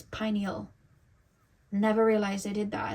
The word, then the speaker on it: pineal: I used to say pineal gland. It's not the pineal gland, it's the pineal gland. I used to say penile. It's pineal.